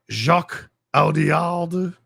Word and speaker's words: Jacques Audiard: Jacques Audiard.